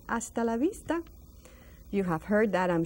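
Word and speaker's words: hasta la vista: next time a Vista that's another silent h AAL Vista so you say AAL Vista you have heard that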